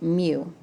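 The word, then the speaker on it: μ: the front and it's pronounced me like a kitten me um and that is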